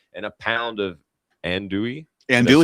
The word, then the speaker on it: andouille: Andouille.